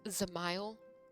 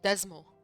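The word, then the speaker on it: Dzemael: It's pronounced Zamile. I've been calling it Desmol.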